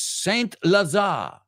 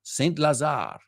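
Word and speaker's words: Saint-Lazare: the second one is Saint Lazar Saint Lazar Lazada I think the E is silent and that's a hyphenated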